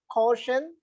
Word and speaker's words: caution: I told you to stress the penultimate syllable because the word ends in ION. In the word CAUTION, there are only two syllables.